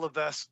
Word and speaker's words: Levesque: H to my ex Paul L that's how you say his name it's a silent s okay I have a